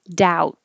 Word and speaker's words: doubt: in rl space this forget about the b just think of it as out like outside with a d doubt oh and i should